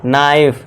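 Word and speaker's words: knife: अब देखिए यदि एन से पहले और वर्ड के शुरू में के हो तो के साइलेंट होगा। एन से पहले क्या है दोस्तों? के है तो यहां पे के हमारा साइलेंट होगा और इसे क्या पढ़ेंगे? नाइफ यानी कि चाकू। ठीक है दोस्तों? के को भूल जाइए।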